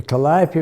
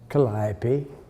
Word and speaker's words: Calliope: We'll name it Calliope or Calliope. And which the Greek goddess of beautiful sound was Calliope. Mispronounced everywhere as Calliope. We had a Calliope project, Calliope Street here. And Webster's dictionary decreed that Calliope was the proper pronunciation. It was a pronunciation of that Greek goddess's name, and Calliope was the colloquialism.